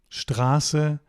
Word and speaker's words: Straße: of a syllable, then it's not pronounced st. It's pronounced sht.